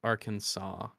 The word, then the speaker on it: Arkansas: in Kansas differently uh Arkansas was named for the French plural of a Native American tribe while Kansas is the English spelling of a similar one since the letter S at the end of French words is usually silent we pronounce Bill Clinton's home state Arkansas um why does he